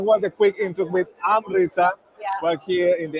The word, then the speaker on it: Amrita: Amrita. Yeah. Like, okay. I like it. It's like I'm saying I'm Rita, but it's Amrita.